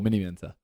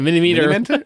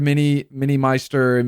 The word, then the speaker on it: Miniminter: Why can't Americans say my name? That's what I want to know. What? MINIMINTER? Oh, they say MINIMINTER, Minimeister, Mini-Minor, Mini-Minor.